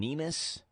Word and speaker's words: Nemes: Yeah, it looks like one of your Republican colleagues, Jason Nemes, I think is how you say his last name? Yeah, Nemes.